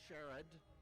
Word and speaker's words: Sherrard: His name is properly pronounced Sherrod.